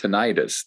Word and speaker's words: tinnitus: called neuropuncture uh for tinnitus or sometimes pronounced tinnitus that persistent ringing in